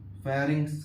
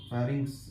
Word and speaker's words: pharynx: अरे sorry sorry sorry, फेरिंक्स कह रहा हूं मैं। फेरिंक्स ऐसे पढ़ता है इसको, फेरिंक्स ऐसी होती है इसकी स्पेलिंग, PHARYNX।